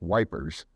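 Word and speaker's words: Ypres: a bishop in Belgium the bishop of EP y PES during the first World War the British soldiers pronounced that wipers the bishop of wipers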